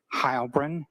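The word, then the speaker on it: Heilbrun: My name is Hybrin. That's spelled.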